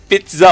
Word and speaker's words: pizza: Because it's spelled ZZA, so people say za, pizza, right? But it's pronounced TSA.